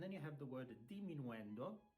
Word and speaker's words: diminuendo: And then you have the word diminuendo. It's not diminuendo, it's diminuendo, diminuendo, or decrescendo is also written decrescendo.